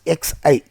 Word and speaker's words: xi: 0 and psi minus this is psi you can pronounce as x i psi psi 0 and